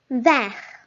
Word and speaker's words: vert: We do not pronounce the last letter T. We pronounce with T only when it is a feminine word.